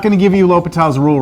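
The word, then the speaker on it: L'Hôpital: a section entitled the hospital's rule it's actually pronounced l'hopital l'hopital lo put a towel l'hopital's rule and this is what we're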